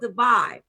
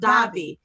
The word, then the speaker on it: Davi: we are going to be talking to Robert divine and his uh Dobby oh I said it wrong we come back we gonna be talking to Robert Davi and we're gonna be talking about his new